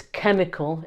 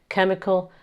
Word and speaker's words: chemical: You should also be able to know how to pronounce these words - so it's "chemical" - it's a hard "K" sound at the beginning - "chemical" - and it's "pharmaceutical", "pharmaceutical industry".